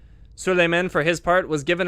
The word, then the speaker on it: Suleiman: Oh, Suleiman.